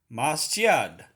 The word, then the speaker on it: masjid: But its original was masjid. This is what in Arabic, how it's still pronounced.